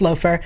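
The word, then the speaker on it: Laufer: we have somebody pointed out that there's the loafer group which is spelt laugher but according to Grimm wiki is pronounced loafer which I believe is actually the resistance is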